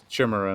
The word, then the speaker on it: Chimera: funny how I just how I think it should be pronounced shimmerer now if there's an